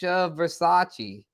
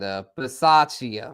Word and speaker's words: Bisaccia: Rich Versace. Okay, Versace. Rich Versace. I don't know how to say it, but he was their special teams coach. The dude, Rich, from the Raiders, the special teams coach. And Bisaccia, Rich Bisaccia. There it is.